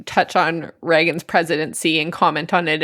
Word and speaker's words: Reagan: has been useful because the spelling of his name is R E A G an A and it is pronounced Reagan, which has helped me